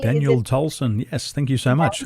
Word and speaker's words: Tolson: together and help me welcome our good daniel thompson daniel i hope i'm pronouncing your name correctly daniel tolson yes thank you so much i um i